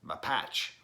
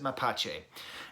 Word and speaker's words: Mapache: by the band mapache that comes from a Spanish word for raccoon so I am gonna be pronouncing it that way I believe John Wayne would pronounce it my patch but we're gonna pronounce it my patch a and they have done